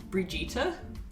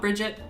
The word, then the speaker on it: Brigitte: Brigitte is how you pronounce it. Yeah. So not Bridget, Brigitte.